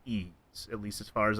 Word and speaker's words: Ys: started with Ys Origin back at the end of 2018.